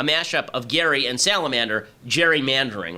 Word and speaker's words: gerrymandering: Right, it isn't actually pronounced Gary, it should be gerrymandering, who signed a bill to redistrict Massachusetts.